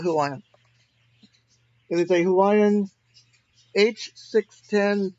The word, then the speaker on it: Huion: So I'm currently using I think it's pronounced Hawaiian. It's Huion, so I call it Hawaiian.